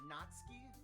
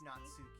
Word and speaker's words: Natsuki: mean you're American so it's either natski or some people go with natsuki so don't pronounce the U as what you're telling me essentially yeah a lot of times the U in Japanese it is kind of like that very quick one you know what I